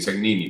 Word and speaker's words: Segnini: Pero yo siempre me presento como Cegnini porque, bueno, nací aquí, crecí aquí y bueno, es como lo más natural a pronunciarlo en español para mí, ¿no?